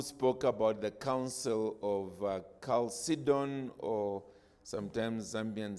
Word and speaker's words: Chalcedon: Then I think it was Yab, is that the way you pronounce it? Yab, who spoke about the Council of Chalcedon, or sometimes Zambians say Chalcedon.